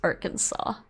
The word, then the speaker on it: Arkansas: yeah it's Epiphany yes but it's Arkansas it's pronounced Arkansas a little bit of water a little bit